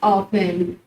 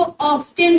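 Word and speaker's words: often: कब कब के लिए इंग्लिश में वर्ड होता है हाउ ऑफन. हाउ ऑफन. ओए हाउ ऑफन. बहुत सारे लोग इसको ऑफ्टन भी प्रोनाउंसिएशन करते हैं, मगर हम इसको इंग्लिश में ऑफन बोलना एक राइट वे होगा.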